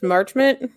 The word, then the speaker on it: Marchment: I think, is his last name pronounced Marchment? Yeah.